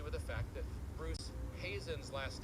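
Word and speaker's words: Heezen: the fact that Bruce Hazen's last name, which is spelled h e zen, is pronounced just like my last name, Hazen.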